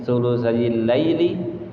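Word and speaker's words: ثلثي الليل: Nah itu bacanya thulutsayil lail. Jadi pendek thulutsayil lail.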